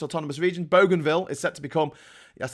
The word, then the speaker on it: Bougainville: Papua New Guinea one of its autonomous regions Bougainville is set to become yes that's the way you pronounce it is set to become independent in